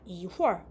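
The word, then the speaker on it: 一会儿: 이후얼. 이거 발음을 좀 쓰면은 이월이라고 발음을 하는데 이건 잠시, 잠깐 요런 뜻을 갖는 단어고요.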